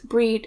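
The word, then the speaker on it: Brigid: So a lot of Christo-Pagans choose to work with Saint Bridget, or the goddess Breed as her original pronunciation.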